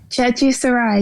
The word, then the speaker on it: Chechi Sarai: It's Chechi Sarai, right? Chechi Sarai, yes.